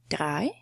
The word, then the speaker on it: vier: And then, vier. Vier. This letter at the beginning is not a V, it's a f, "fow", right?